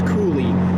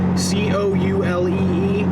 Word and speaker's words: Coulee: on the cap rock i don't know how to say the last part i think it's cooley c-o-u-l-e-e the cap rock coulee trail and it's a